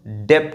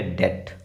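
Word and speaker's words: debt: इसलिए इसको हम डेप्ट नहीं पढ़ेंगे। क्या पढ़ेंगे? डेट। क्या पढ़ेंगे? डेट डेट यहां पर जो बी है वो साइलेंट है।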